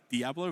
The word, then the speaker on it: Diablo: interesting shortenings there basically Australians don't like to put in a second a second syllable short too much work which probably why it's like dablo right like Diablo versus dablo dablo yeah yeah it's just like cut down the cut down the syllables yeah um yeah so